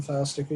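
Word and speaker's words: Pfeilsticker: this it's file sticker like a filing cabinet with a sticker on it um and i'm an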